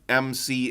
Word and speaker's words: MC: says if it helps my name is pronounced like mc in cabaret there we go there